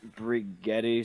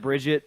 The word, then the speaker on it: Brigitte: I think it's like Brigetti, something like that. It's not what you would think. It's not Bridget, but it's not what you would think.